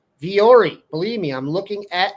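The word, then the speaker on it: Vuori: It's pronounced V or E. Viori.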